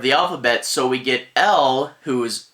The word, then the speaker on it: Elle: wallace jr was doing e-l-l-e pronounced l is actually the french word for she so it's really just